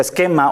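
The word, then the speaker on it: σχῆμα: palabra que usa es una palabra que se pronuncia esquema o esquema ti significa apunta a su aspecto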